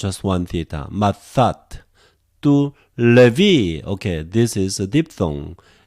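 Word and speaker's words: Λευί: Tu levi, okay, this is a diphthong. E together, f or ev. In this case, because of the following vowel sound, so we pronounce levi.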